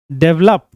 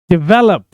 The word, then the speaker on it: develop: बहुत लोग इसको प्रोनाउंस करते हैं डेवलप, बट डेवलप is wrong pronunciation, गलत प्रोनाउंसिएशन है वो. The correct pronunciation is डेवलप. डेवलप नहीं, डेवलप.